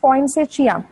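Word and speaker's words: Poinsettia: इट is also called, it कैन be pronounced as पॉइंसेशिया.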